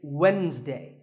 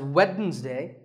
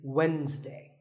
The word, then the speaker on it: Wednesday: day of the week it's Wednesday the D is silent sometimes it's pronounced as weddings day but the proper way to say it is Wednesday what about this word